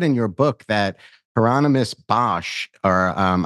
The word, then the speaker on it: Bosch: your book that heronimus Bosch or um I think you pronounce it BOS is um you know